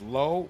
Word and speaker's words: LHO: Oh, LHO is pronounced low.